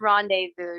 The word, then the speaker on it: rendezvous: loving pastimes with her it's Rendezvous just so you know uh Rendezvous it's like it's like French Rendezvous I'll remember